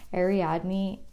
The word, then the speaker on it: Ariadne: felt like such an injustice to her to pronounce it wrong ariadne um the message that she wants to say